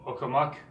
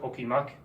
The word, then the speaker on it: okumak: For example, okumak, or some people pronounce it okimak.